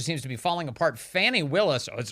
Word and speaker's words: Fani Willis: to be falling apart Fanny Willis or is it fonny they keep saying it's fonny Willis stop policing my pronunciations I like Fanny much better Fanny is a a